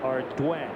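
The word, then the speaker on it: Ardoin: his dodger debut and that's how you say it our dwayne assuming that's french i would guess so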